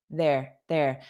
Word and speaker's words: they're: There. Notice how unstressed that contraction is.